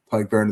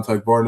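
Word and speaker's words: Tadhg Beirne: And then Ty Burn is obviously kind of the the star man. Ty Burn is say not the Alex Bar pronunciation of that name. Ty Burn, but yeah know he's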